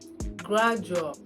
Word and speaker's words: gradual: fraudulent not fraudulent fraudulent thank you it is pronounced as gradual gradual not gradual gradual it is gradual gradual